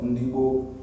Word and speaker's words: Ndigbo: It is the British that came and could not pronounce Ndigbo, and they say they are Igbo. We are not Igbos. We are Ndigbo.